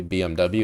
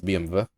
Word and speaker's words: BMW: it's like German so it's technically supposed to be VV cuz there's no W in German. It's I mean like the letters there but you pronounce with a V. Like trivia the it's not technically BMW it's BMv.